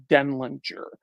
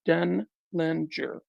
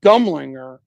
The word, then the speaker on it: Denlinger: My name is Adam Denlinger, 3 syllables, Denlinger. Okay. Your other guy that called me Adam Denlinger and Dumlinger, okay, he mispronounced it and everybody started saying it.